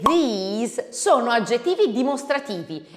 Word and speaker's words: these: come V F These These invece si pronuncia con un suono più lungo lo stesso suono che troviamo in parole come Beat feet these Ma non finisce qui perché anche sul finale abbiamo delle differenze mentre this finisce con la s di Snake these finisce con zd zo ci avevi mai